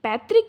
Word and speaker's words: पैतृक: उसे पैतृक पैतृक ये जो है ना यह इसका प्रोनाउंसिएशन इस तरीके से होगा। पैतृक।